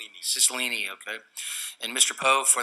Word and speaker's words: Cicilline: Did I pronounce that right? Cicilline, okay.